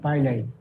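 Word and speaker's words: pili: ফিমডিয়া, পাইলাই, অনেকে পিলাই বলে, অনেকে পাইলাই বলে।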